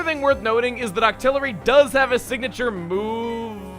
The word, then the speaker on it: Octillery: Octillery is how you say awkward.